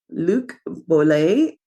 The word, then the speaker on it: Luc Boulet: I want to welcome our guest, Luc Boulet. Did I pronounce that right, Luc? Yes. Yes, because it's French and French Canadian, although he was raised in Georgia in the South.